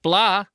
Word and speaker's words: blah: they feel me, not blah. I don't like that one. Both words, by the way, have an h in them that is silent.